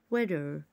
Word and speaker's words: waiter: برضو هنا حرف الاي جاي بعديها تي، حرف التي كده يعتبر بيتنطق زي الدي بالظبط. waiter waiter.